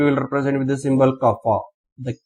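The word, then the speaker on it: κ: And simply this pronounce that kappa.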